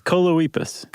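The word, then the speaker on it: Choloepus: with choliopus oh coloipas coloipus rhymes with Bocephus okay that's a good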